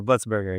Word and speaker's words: Blitzberger: But without further ado, man, let me introduce my brother, Brad Blitzberger. Is Uh, that how you say it? Blitzburger, yeah.